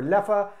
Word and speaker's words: Leffe: broken down into that so Leppa or left really your choice though I prefer Leppa as that is how the brewer pronounces it as well they use the Dutch or Flemish pronunciation nonetheless bottle art nothing